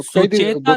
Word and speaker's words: सुचेता: नहीं सर, मैंने एक, मेरे को ना एक कई दिन, दो सुचेता तीन दलाल, साल येस, येस, आई now remember. I thought Suchitra दलाल कह रहे थे आप।